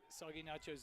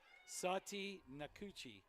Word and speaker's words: Sati Nakuchi: Grandma just confirmed our pronunciation is not Soggy Nachos. It is Sati Nakuchi.